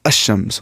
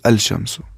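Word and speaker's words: الشمس: We will not say al-shamsu is pronounced as ash-shams. We will not say al-shamsu. We will say ash-shams, because sheen is from huruf shamsi.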